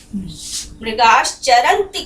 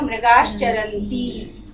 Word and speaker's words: मृगाश्चरन्ति: तो यहाँ पर जब इसका उच्चारण होगा तो वो दीर्घ के समान होगा। मृगाश्चरन्ति करके नहीं छोड़ेंगे, मृगाश्चरन्ति ऐसा ये उच्चारण होगा।